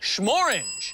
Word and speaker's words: Shmorange: Schmorange. And it rhymes with the color of our bottle.